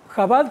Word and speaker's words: Jabad: preguntar la pronunciación de es jabat jabat yat acá lo escucho de muchas maneras diferentes es la pronunciación correcta así no lo digo mal de nuevo jabad porque viene la palabra jma jabad es un acrónimo de tres palabras jma bina y daad en hebreo la palabra